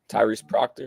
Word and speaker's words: Tyrese Proctor: I missed most of the game, but I heard a lot of people saying the Proctor, Tyrese Proctor is how you say his name.